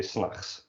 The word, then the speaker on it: 's nachts: 's nachts doesn't usually get pronounced like that, but you drop the T, basically when you say that. You say 's nachts.